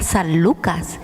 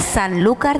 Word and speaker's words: Sanlúcar: porque vivo en rota escuchaba hablar de sanlúcar pero con la pronunciación yo entendía san lucas pero en realidad es sanlúcar de barrameda entonces me gustaría que